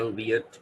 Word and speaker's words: albeit: भी कह सकते हैं, सही तलफ़ुज़ इसका albeit, ठीक है। और अमेरिकन इसको albeit भी कहते हैं, क्योंकि ये एल या ऑल जो है ये वही although या although वाला है, तो ये सही जो वर्ड तलफ़ुज़ है इसका albeit है।